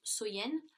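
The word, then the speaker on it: Samhain: nuit de l'année donc était samen donc qui est prononcé qui se prononce soyen et donc il croyait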